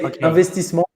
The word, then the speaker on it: Investissement: So you say Investissement in French.